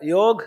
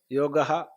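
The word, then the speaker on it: യോഗഃ: അപ്പോ ഒരു സംശയം വന്നു യോഗ് എന്നുള്ളതിന് ചിലര തെറ്റായിട്ട് യോഗ എന്ന് പറയുന്നുണ്ടല്ലോ അപ്പോ ആ ചർച്ചയുടെ അധ്യക്ഷൻ ഞാനാണ് ആ ചർച്ചയുടെ അധ്യക്ഷൻ ഞാനാണ് അത് ഞാൻ പറഞ്ഞു സംസ്കൃതത്തിൽ ഇന്ന ധാതുവാണ് ഇന്ന പ്രത്യേകമാണ് അത് അകാരാന്തമാണ് അകാരാന്തം ആയതുകൊണ്ട് പുല്ലിംഗത്തിൽ യോഗഹ എന്നും നപംസകലിംഗത്തിൽ യോഗം എന്നുമേ വരൂ എന്നാൽ ഉത്തരഭാരതത്തിൽ അകാരാന്തത്തെ ഉച്ചരിക്കുന്ന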